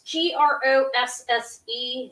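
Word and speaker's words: Grosse: look it up um it's g-r-o-s-s-e and it's germany 1960 it's i think his name is pronounced gross um he uh i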